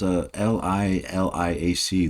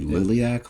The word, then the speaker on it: Liliac: Looks like it's spelled L-I-L-I-A-C, Liliac. Is it Liliac? I'm hoping I'm saying that wrong.